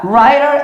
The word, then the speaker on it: writer: Writer é escritor. E mais uma vez, o T entre vogais com som de R, ó.